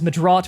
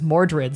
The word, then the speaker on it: Mordred: And the original pronunciation is Madrat, which is what I'm named after, but people know it as Mordred.